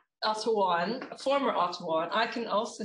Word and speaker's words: Ottawa: want you to realize you don't say ottawa like that yes although it is also the case that why anger settlers say ottawa because they don't pronounce that t's in general i'm going to